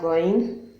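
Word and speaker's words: غ: Many people pronounce goin as G, letter G, which isn't. I don't know how to explain this, but it's kind of like you're feeling weak to pronounce the letter G.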